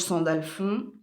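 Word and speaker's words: Sandalphon: Donc allez regarder, hein, le qui est l'archange Sandalfond. Ça s'écrit s A N D A L P H O N.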